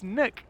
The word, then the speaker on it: Nuke: It's nuke. Have you always called it nook? Yeah, oh, but it's not. It's not nook. It's nook. Nook.